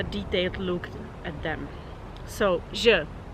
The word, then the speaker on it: ž: The sound is not very hard to pronounce because French has the same sound, like in the word bonjour, as you might know.